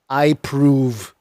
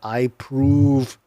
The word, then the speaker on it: iProov: In a survey of 105 chief security officers published by biometric authentication provider iProve in January, 77% said they were concerned about the potential impact of deepfake video, audio, and images.